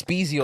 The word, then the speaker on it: Spezial: It's a special, however you pronounce it. Like I said, It's Spezial.